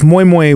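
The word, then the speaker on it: moin: didn't I didn't and it's mooy with a n but you don't really pronounce the N cuz a lot Nigerian have silent letters like cheese and stuff moo yeah um and it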